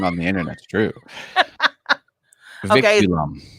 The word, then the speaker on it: vinculum: Vinculum. That's how it's pronounced.